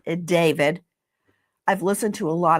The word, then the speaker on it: D4VD: It looks like D4VD. It's David.